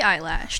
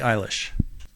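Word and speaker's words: Eilish: birds of a feather by Billy eyelash no it's pronounced Billy eyelash Billy eyelish here we go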